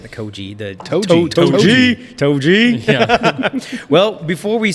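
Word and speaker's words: 杜氏: Is that how you pronounce it? Toji? Yeah. Toji.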